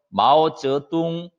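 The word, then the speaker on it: 毛泽东: 째 뚱 마우이 성 즐 이 성 동일성 마오쩌둥 마 어찌 똥 이렇게 발음합니다 마우스 뚱하며 는 중국인들은 아 그 우리가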